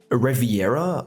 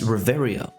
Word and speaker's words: Reveria: talk about pronunciation, but it's not Reviera or Revaria. It's It's Reveria. It's It's actually not that difficult, right? It's just Riveria, not Reviera.